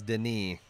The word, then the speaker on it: Denis: them yeah oh and it's not Denis is Denis white alright so what